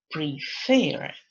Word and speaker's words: prefer: Lección número 6 dice que el verbo tiene dos sílabas nuevamente, pero ahora la sílaba que está acentuada es la última. Por ejemplo, admit, prefer, and begin.